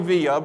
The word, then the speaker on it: Villa: Joy Villa, Villa, and it's pronounced Villa.